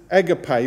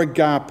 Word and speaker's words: agape: So the word for love used in this verse is agape or agape. It depends on your pronunciation.